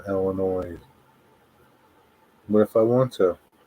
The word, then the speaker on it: Illinois: Don't pronounce the S in Illinois.